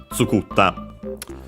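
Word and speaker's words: 作った: but then I fell, skur, ta, difficult to pronounce, the R became a small, the doubling of the following consonant, the ta. Tsukutta.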